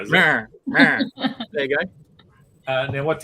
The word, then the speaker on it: Mera: I mean, you want me to say the name wrong again? Yeah. Mera. It's Mera, isn't it? Mera.